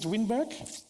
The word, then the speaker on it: Winberg: Do I pronounce this right? Is it Winberg? Thank you.